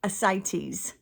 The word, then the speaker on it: ascites: It's ascites as ci ascites.